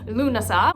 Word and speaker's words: Lughnasadh: So again, Lunasah, where the emphasis is really on that syllable.